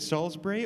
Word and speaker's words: Salisbury: your last name because i have the english pronunciation is it salisbury or am i just saying it wrong right it is right oh thank goodness for